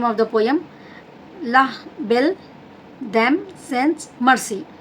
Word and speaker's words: La Belle Dame Sans Merci: In French language it has given the name of the poem La Belle Dame Sans Merci. Like that you have to pronounce it.